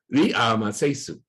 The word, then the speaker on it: Ramses: But by the time you can really work out what the original pronunciation was, and so the pronunciation of Ramses was originally Ri'amasesu. So very different from Ramses.